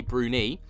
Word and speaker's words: Bruni: a week or two ago, Amy Brunai or Brunie, I I I got it completely wrong in that video. I've been corrected many a time in the comment sections. Is Amy Brunie, I will get that right from now on.